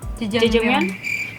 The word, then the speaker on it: Jajangmyeon: Bacanya yang benar berarti gimana? Jajangmyeon.